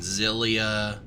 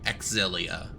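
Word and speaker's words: Xillia: vesperia and the and zillia or sorry exilia i'm trying to pronounce them properly these days axilla 1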